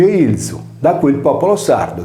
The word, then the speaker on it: Ilia: In quest'ultimo caso, la voce è scritta Ilia, come la città di Ilium o Troia, che si legge Ilzu, da cui il popolo sardo degli Ilienses o Ilzesos.